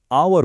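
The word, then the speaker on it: hour: पर यहां पे एच साइलेंट है। हम आवर नहीं आवर बोलते हैं।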